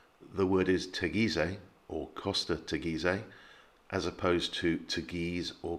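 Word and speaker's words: Teguise: syllable the word is tegize as opposed to tagis or costa tagis and again the push is on the penultimate syllable so it's tegise tagisei this is one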